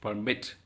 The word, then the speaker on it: permit: Permit. It is the second vowel that is stressed.